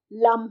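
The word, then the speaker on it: लं: इसका जो बीज मंत्र है लम है। जैसे ओम बोलते हैं ना, वैसे लम ऐसे बोलते हैं।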